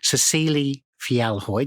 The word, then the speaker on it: Cecile Fjellhøy: And in the studio with me today, I have an amazing woman, Cecile Felhoy. Did I pronounce that correct?